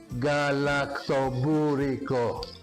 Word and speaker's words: Galaktoboureko: Galaktoboureko, and it's fun if you try to pronounce it. You go Galaktoboureko.